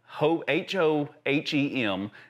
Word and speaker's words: Hohem: But my camera is mounted to a gimbal and it's called the Hohem, H-O-H-E-M is the brand name. Hohem, I think is how you pronounce it.